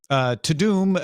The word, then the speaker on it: Tudum: Netflix held its Tudum. That's just how they want us to pronounce it. I've given up. Tudum event this weekend, meaning